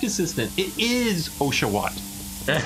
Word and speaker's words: Oshawott: It is Oshawott. That's how you pronounce it correctly, though. Yeah, thank you. You know, sometimes you gotta keep the little ones in line. Anywho, what? Yeah, Oshawott.